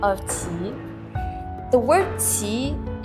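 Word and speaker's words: 齐: The word Qi is pronounced in the same way as the word Qi for our belly button in Chinese.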